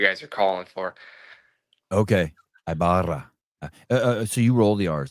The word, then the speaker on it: Ibarra: Ibara. Say it one more time. Ibara. Ibara. Yeah, it's the same way. It's just different. It just sounds different because in Spanish it's like Ibara.